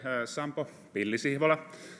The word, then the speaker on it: Sampo Pilli-Sihvola: but anyhow uh so my name is yem sampo bilisibola so it might be difficult to pronounce but it's also difficult to pronounce the